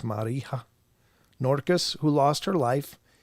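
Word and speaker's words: Marija: r i j a i think the J in that version is like a y or H maybe it's Mara norus who lost her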